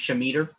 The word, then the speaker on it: scimitar: Scimitar is also pronounced Shemeter, Yeah, depending on where you're from.